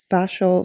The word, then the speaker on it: fascial: You're not the only one to to not know how to pronounce fascial stretch therapy. The amount of people that think it's facial stretch therapy and think, "Is he going to start touching my face?"